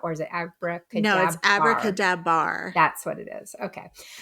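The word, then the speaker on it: AbracadaBar: it Abracadabra bar or is it Abra kadab Abra kadab bar that's what it is okay uh so we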